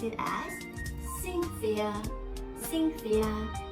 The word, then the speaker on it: Cynthia: But when we have C-Y-N, T-H-I-A, we pronounce it as Cynthia. Cynthia. So this C is S sound.